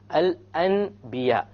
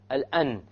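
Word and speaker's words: الأنبياء: Here we have noon, sakin, al-an. But it's followed by a ba. So we don't pronounce it al-an. We change the noon into a meme. And then we do a ghunna.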